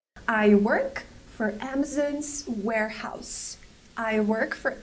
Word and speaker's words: Amazon: Amazon's Warehouse Amazon's Warehouse the word is not pronounced Amazon it's pronounced Amazon Amazon use the open Sound ah on Amazon we cannot say Amazon it's Amazon it's important because this is a stress syllable Amazon we have a stress on the first and third syllable so it's important to